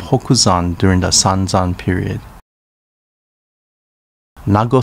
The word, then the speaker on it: Nago: during the sanzan period nago city pronounced nagu in uchinaguchi in recent times much